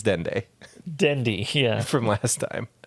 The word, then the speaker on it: Dende: Dendi, except it's Dende Dendi, yeah.